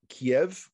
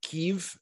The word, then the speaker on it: Kyiv: Now, one of the things that hit me is one of the Chabad centers outside of Kiev, or Kyiv, as it's pronounced now.